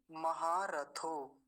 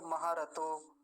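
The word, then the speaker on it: महारथो: कैसे करना चाहिए अगला महा रथो महा रथो रथो थकार्य नहीं तो महा रतो ऐसे भी चला जाता है जल्दी जल्दी मरतो महारथ नहीं महारथ थकार्य दो चीज बताई थी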